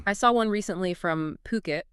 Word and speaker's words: Phuket: I saw one recently from Puket. That's P H U K E T. Gotta say it right.